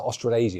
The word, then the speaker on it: Australasia: But thinking about like that team coming out of Australia, how do you pronounce it? Australasia.